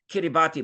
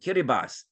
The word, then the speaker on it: Kiribati: and it looks like Kiribati but that's pronounced Chris um um kiribas TI is an s in kiribas language right TI is an S don't ask me why but you can see